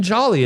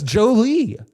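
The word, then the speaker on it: Joly: And like Justin Jolly, I'm calling him Justin Jolly. It's Joe Lee.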